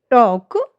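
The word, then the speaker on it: talk: जब एल के बाद ए ओ यू के साथ एफ डी के एम आई तो एल जो हमारा है, एल लेटर जो हमारा वो साइलेंट हो जाता है।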